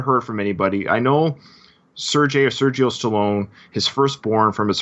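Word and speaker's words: Seargeoh: I mean, it's Sergio typically is spelled S-E-R-G-I-O. Mm-hmm. It looks like it would say Sergio to me. Yeah. It's S-E-A-R-G-E-O-H. S-E-A-R? Like Sear. Sear. G-E. G E O H Sergio. Oh yeah, Sergio.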